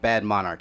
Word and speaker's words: BADMNRCH: and just so y'all know bad monarch is it's like it's hypebeastized yeah because it just looks better that way it looks cool yeah exactly it's b-a-d-m-n-r-c-h yeah bad monarch it's how you uh pronounce um yes everything is